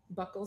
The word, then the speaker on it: buccal: Ibarra's DNA, you first tried buccal swabs? Yes. Okay. I learned today that they're pronounced buccal, not buccal.